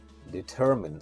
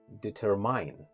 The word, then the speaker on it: determine: have is determine determine some people pronounce this word incorrectly and they say determine which is actually incorrect you have to say determine determine where the stress is on the second syllable and we say determine the next word is